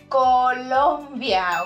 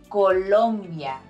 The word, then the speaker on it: Colombia: is cuanto number one Colombia okay not Colombia Colombia is an ivy league university in New York Colombia is the land of Gabriel Garcia Marquez and vaginato I've